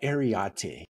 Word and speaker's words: Areté: That's spelled A-R-E-T-E with a little above the E for emphasis.